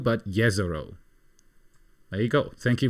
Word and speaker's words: Jezero: name there you go the J is pronounced like why in Yak jezero in check means Lake exactly so yero yero crater yero not jezero but yeero there you go thank